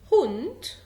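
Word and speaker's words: Hund: هونت، انت سامع ت ولكن هي مكتوبة دي. هونت عابنت.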